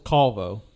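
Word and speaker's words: calvo: about I'm Wonder yeah he still smokes it's CVO how you spell that c a l v o CVO it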